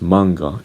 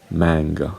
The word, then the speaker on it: manga: Well, of course, in the Japanese language, it is pronounced manga, and then it was adapted in the English language, and its pronunciation became manga.